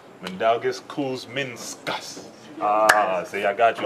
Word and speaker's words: Mindaugas Kuzminskas: Hold on, one more time. Mandalgus. Kuz. Min. Min. Skus. Skus. Mandalgus Kuzminskus. Ah, see, I got you. I'll never call you that, Kuz. Mandalgus Kuzminskus.